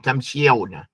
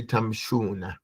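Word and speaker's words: تمشون: And when we pronounce it with a kesra on the sheen, it's heavy on the tongue. Tamshiona. So we say tamshuna.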